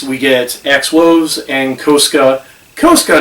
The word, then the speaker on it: Koska: Koska, not Casca. It's pronounced Koska in the season finale.